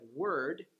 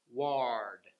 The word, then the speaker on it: word: Most people, they kind of swallow the sound, so it sounds like ah. So instead of word, they'll say ward. And so just being able to relax, keeping the tongue kind of halfway up in your mouth, kind of in the front, word, instead of ward, and putting your tongue